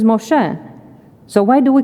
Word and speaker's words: Moshe: That is, of course, Moses, except that his name is not Moses, it is Moshe.